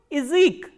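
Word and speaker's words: язык: So, what happens is when ya is in unstressed position, the sound of ya becomes e. So, how will you pronounce this word? Izik.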